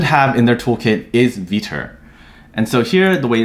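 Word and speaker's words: Vetur: view developer should have in their toolkit is vitor and so here the way it's spelled is v-e-t-u-r and so you'll want the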